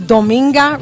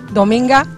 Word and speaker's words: Dominga: my mother's name is dominga Ruez it's kind of hard to pronounce it's like a Sunday with an A dominga but yeah doinga yeah